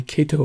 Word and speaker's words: Kaito: those emergency radios like Kato makes not Kaito Kaito actually talked to them on the phone they did tell me Kato is how you pronounce it I might have just